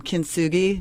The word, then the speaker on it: Kintsugi: as well so the title of the album kin sui that's the right way to pronounce it that is correct yes and that